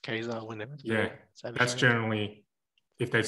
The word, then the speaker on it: Ka-Zar: you do you guys is it keizer or kazur okay i say casey there's a hyphen in the middle so you're there on your own that's saying it wrong unless you want to say it really emphatically like gaza a little bit more jungly to me i just go with the cartoon it's just keizer yeah that's generally if